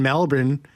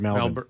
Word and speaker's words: Melbourne: No, well, it is Melbourne, but you pronounce it Melbourne.